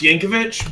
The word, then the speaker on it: Yankovic: know I have the Y Yankovich yep it's pronounced Yankovich but it's uh spelled yank Vic wait without